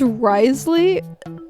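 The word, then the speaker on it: Wriothesley: comment yeah his name is his name is Risley but like it's it's spelled like it's spelled like rioth but it's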